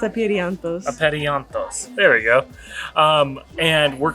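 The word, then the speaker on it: Apeiranthos: city, which is called, it's really hard to pronounce, Aperianthos? Is that right? No. What is it? I think it's Aperianthos. Aperianthos.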